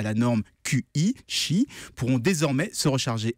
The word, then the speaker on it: Qi: de recharge sans fil le standard qi c7 prononce chi c'est celui qui est